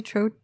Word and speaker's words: troche: estrogen sorry gotcha um do you prefer progesterone troche or capsule is how you say troche there's some really good topicals out there i